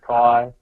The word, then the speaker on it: Cy: And so that is obviously, hi, my name is Kai, and my name is spelled C-Y, which, you know, isn't the correct spelling of Kai, but reads as Kai, but that's the best my mum could do.